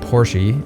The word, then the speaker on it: Porsche: A romantic mind is someone who sees a Porsche, or Porsche, if you pronounce it correctly because it's the German word for horsey.